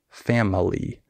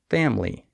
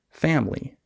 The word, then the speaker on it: family: in the word family the I is silent we don't say family we say family that's something that a